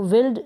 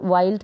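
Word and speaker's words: wild: और डी को ड वाइल्ड इसको विल्ड नहीं पढ़ेंगे विल्ड ना पढ़ के आप वाइल्ड पढ़ें जैसे कि यहां पर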